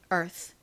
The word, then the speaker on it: Earth: 부분은 t h 입니다이가 원래는 세게 스 소리가 나는데 이렇게 단어 끝부분에 오니까 바람이 샥 빠지면서 이렇게 발음이 된다고 말씀드렸죠 자 철자 한번 눈에 담아 주시고요 지구 Earth 안 보고 한번 적어